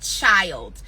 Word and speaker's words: Chiiild: Right now, one of my favorite artists that I'm listening to nonstop on repeat is a band called Child. Chiiild is how they spell it.